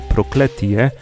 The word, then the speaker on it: Prokletije: Another origin of the name Cursed Mountains, pronounced here Prokletije, tells the story of a single mother raising three sons.